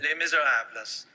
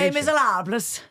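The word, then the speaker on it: Les Misérables: Les Miserables. By the way, that's also a mispronunciation. Les Miserables. You don't pronounce the S?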